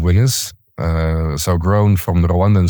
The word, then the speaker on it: Winnaz: And what we built is our brand Winners. So you spell it WINNAZ, but it comes from winners.